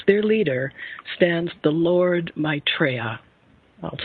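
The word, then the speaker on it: Maitreya: their head as their leader stands the Lord mraa I'll spell that for you m AI t r y a the Lord mraa who was indeed foretold to come at this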